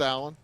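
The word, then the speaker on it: Aleon: Pronounced Allen, spelled A-L-E-O-N. 4-2, the lead in favor of North Clay.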